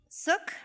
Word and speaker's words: Suk: Suk rhymes with hook or book, and it means dignity.